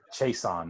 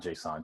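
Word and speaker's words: Chaisson: Clavon Jason. Chason, not Jason. Chason. Yo, their house is super nice too.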